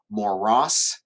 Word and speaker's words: morass: Moros, careful how you pronounce that one, moros is a bog or a swamp.